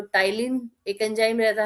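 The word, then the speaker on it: ptyalin: अच्छा इसको कोई भी पटाइलीन नहीं पड़ेगा क्योंकि इसमें पी साइलेंट होता है। तो टाइलीन एक एंजाइम रहता है और इम्यूनोग्लोबिन ए पाया जाता है।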